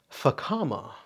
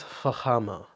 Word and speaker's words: Fama: talk about Fama so if you want to pronounce it in the Western Way Fama but this is Fama this is wonderful if